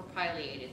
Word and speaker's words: pileated: that was really cool was pileated or pileated depending on how you want to pronounce it woodpecker and that is